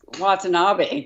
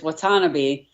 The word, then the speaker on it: Watanabe: I thought it was Watanabe too, but it's Watanabe.